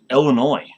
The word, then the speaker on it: Illinois: the way up in Illinois so yeah and uh it's not Illinois's you know the S is silent sure is a silent